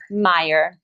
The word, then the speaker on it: Meyer: important question, and it is, how do you pronounce it? Marissa Meyer or Meyer? Meyer.